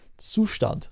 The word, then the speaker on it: Zustand: That's the German name. You properly pronounce it. It's my obligation as a German citizen to tell you how it's properly pronounced.